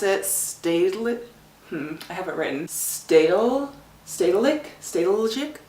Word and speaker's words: Stedelijk: Stedelijk? It's, you probably don't pronounce the J, but basically it's like their modern art museum.